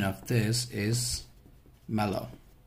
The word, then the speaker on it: Merlot: we have is Marlo so this is a pronunciation of this is mellow it's not Marlow actually sorry it's mellow right so it's not